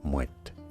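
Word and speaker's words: Moët: Yes, you do want to pronounce the T there, Moet.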